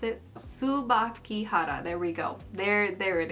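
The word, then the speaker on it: Tsubakihara: came prepared trying to figure out how to pronounce it. Subakihara, there we go.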